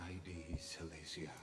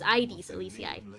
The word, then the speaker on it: Aedes Elysiae: This is ID Ali. I have been saying it wrong. It's ID Alicia. Hero who carried carefully core flame. I have been saying it like AIDS and not like the other sickness which is ades like